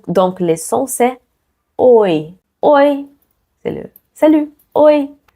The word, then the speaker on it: oi: Eu, oi. Ça, c'est pas ouah comme en français, qui fait pas de sens être ouah comme en français. En portugais, c'est o et c'est i ensemble.